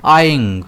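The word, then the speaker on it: eyeing: इसे हम प्रोनाउंस कैसे करते हैं? आईंग। अब इसमें ना दो बार इ है। जो पहले वाला इ है वो थोड़ा लॉन्ग प्रोनाउंस किया जाता है और बाद वाला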